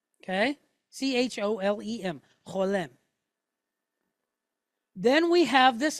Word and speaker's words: cholem: C-H-O-L-E-M, cholem.